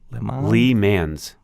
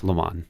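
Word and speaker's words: Le Mans: name man lay man Lee man's Lee man's no I don't think that's how they say it it's LeMond Lhamo so the famous this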